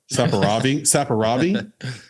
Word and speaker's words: Saperavi: This is a God, how do you pronounce that? Saperavi.